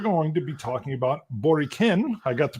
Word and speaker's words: Boriken: primarily because we're going to be talking about boriken i got the pronunciation right yes all right which is the